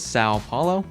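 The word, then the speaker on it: São Paulo: the most easiest server on this list is Sao Paulo. And yes, for anyone wondering, I am pronouncing that right.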